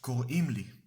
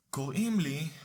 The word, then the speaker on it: קוראים לי: Now the third way of saying my name is in Hebrew is קוראים לי. קוראים לי roughly translates to they call me.